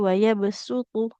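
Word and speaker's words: وَيَبْسُطُ: Jadi dibacanya dengan huruf sin yang kecilnya tidakutuh tapi wayabsutu.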